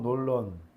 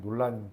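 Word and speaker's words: Nolan: 최근 어 크리스토퍼 논런 우리는 놀란 감독이라 하는데 발음이 논란이라고 하더라고요.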